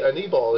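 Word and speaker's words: Aníbal: And everyone called him Anibal, like animal, but with a B. And I was like, but it's Espanol, it should be Anibal.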